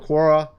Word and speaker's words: Quora: Here we have people in Quora.